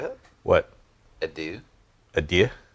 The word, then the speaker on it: adieu: Adieu?